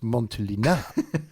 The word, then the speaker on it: Montelena: Newman would have gone, sorry, Turnbull, I think you'll find it's pronounced Montelena.